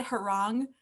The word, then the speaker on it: Heron: I pronounce it Heron, but I recently realized that no one knows that I pronounce it Heron.